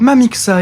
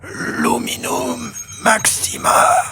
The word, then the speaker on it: Luminum Maxima: Mamixa, il a dit Mamixa. La bonne formule, c'est Luminum Maxima. Une fois la formule prononcée